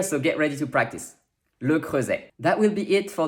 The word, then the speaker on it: Le Creuset: a in french and s between two vowel sounds sounds like z and of course the french is also here so get ready to practice le crosse that will be it